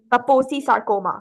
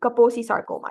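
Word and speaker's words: Kaposi sarcoma: it right now it starts with a केको कपोसी सार्कोमा very good कपोसी सार्कोमा ठीक है make sir your pronounce it correctly ठीक है अच्छा कोल्ड कौन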